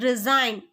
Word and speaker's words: resign: The answer is resign. The answer is resign. Here a silent letter G.